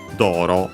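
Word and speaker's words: 道路: But yeah, simply we have Yonban Doro. So yeah, again the usual route. Doro. In Japanese, as you have seen, Chinese compound accent on the first mora. This one, the second most common accent for those.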